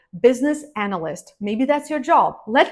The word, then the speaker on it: business analyst: business analyst business analyst sometimes I hear people say business analytic it's not right business analyst maybe that's your job